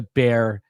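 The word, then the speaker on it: Bexar: contact by the way it's Bear County and um not whatever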